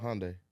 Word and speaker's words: Hyundai: And Hyundai? Is that how you say it? Hyundai. Yeah.